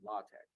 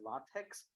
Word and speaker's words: LaTeX: it's from Greek so Tau Epsilon Chi is not pronounced as text it is pronounced as Tech don't ask me because